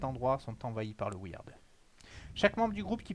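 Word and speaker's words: Wyrd: Écoute, toutes les routes qui mènent à cet endroit sont envahies par le Weird.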